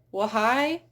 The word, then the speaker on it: why: So when the H is followed by a W, then usually it is not pronounced. So in words like what, when, where, why, you usually don't hear a what, when, where, why.